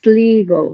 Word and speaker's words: Sligo: By the way, everyone, the old pronunciation of that word is not sly; it's Sligo. It's in old Irish. It is not pronounced sly.